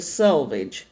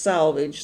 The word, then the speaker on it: selvage: of the fabric, the selvage. Now, it's not pronounced salvage. Salvage and selvage are two different things.